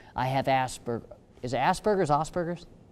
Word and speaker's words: Asperger's: blind I'm deaf I have a spur is Asperger's Asperger how do you say it properly Asperger's okay very well so I mean teach them